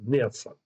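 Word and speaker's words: נאצה: Ok, c'est Neatsa. Ok, Neatsa, Nun, Aleph, Tzadé, E. Donc, ça se prononce Neatsa.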